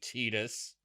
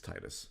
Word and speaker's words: Tidus: you know, because she's not going to know Tidus, which I have now learned is the pronunciation of his name. But it's Titus.